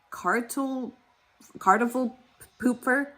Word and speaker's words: Kartoffelpuffer: Um, it's pronounced uh cartel card pooper.